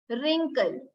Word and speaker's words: wrinkle: The letter W is silent when it is placed before letter R. As you can see, wrapper, wrinkle, wrong.